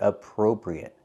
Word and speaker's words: appropriate: We cannot say appropriate. We have to use a long O for the second syllable. Appro. Appropriate. Not appropriate but appropriate. Use a long O like no and go. Pro.